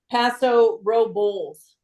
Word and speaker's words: Paso Robles: it and it says the locals pronounce it Paso Ro blls like Bulls like the animal Pas robs yeah yeah